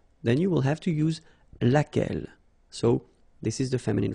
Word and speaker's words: laquelle: So basically same rule, Q-U, U is not pronounced here. And then you get this E-double-L-E, well, phonetically here, it is the same as what we have here. So, laquelle.